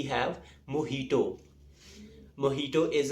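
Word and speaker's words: mojito: and finally we have मोहितो मोटो इज a cocktail drink and इट्स of miss pronounced as मोजीतो सो the next time you गो टू a restaurant and order a मोहितो don't call it मोजीतो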